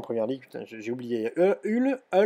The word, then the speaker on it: Hull: Hull, pardon, prononcé à l'anglaise, Burnley, et puis Queen's Park Rangers, c'est ça, voilà.